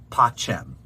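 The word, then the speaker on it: pacem: grant us peace now the latin word for peace is pox but here it's the object of the sentence and so it's pachem so it's dona nobis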